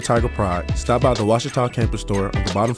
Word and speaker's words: Ouachita: Wichita. Achita. Ouachita. Is it pronounced Ouachita? Searching for Washita Baptist University. Back in Texas, everybody pronounces it Wichita, but really, it's Washita. Washita.